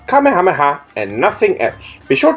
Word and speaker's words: Kamehameha: gin saying this word wrong it is not kameha that is wrong it is pronounced Kamehameha and nothing else be sure to use this